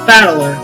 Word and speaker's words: Battler: not a given name blank is made up of the characters from fight and person and is pronounced battler so literally if you translate